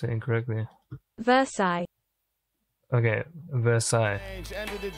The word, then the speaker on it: Versailles: think it spin out I don't want to pronounce it incorrectly Versailles okay Versailles end of the day day Traders